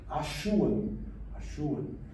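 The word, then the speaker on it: Assuwa: Isso se pronuncia, que eu já vi, Ashuan, com dois S em Tita, tem o som de CH, localizada no extremo oeste da Anatólia.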